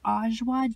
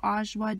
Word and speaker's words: Ajwa: So now, you guys, I'm just snacking on a bunch of Ajwa dates. It's spelled A-J-W-A, Ajwa dates, and they are so delicious.